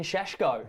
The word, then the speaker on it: Šeško: And also striker Benjamin Sheshko.